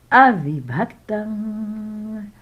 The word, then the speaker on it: avibhaktam: Some consonant clusters and letter clusters takes great attention for pronunciation, but we'll try. Avibhaktam, avibhaktam, one word.